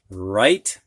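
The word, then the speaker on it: write: Now we're going to have words with a silent W. And these W's are followed by an R. You can hear the R, but not the W.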